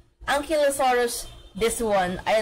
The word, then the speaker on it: Ankylosaurus: I don't know which which is the proper pronunciation oh the first one ankylosaurus yes sir I'm correct let's go I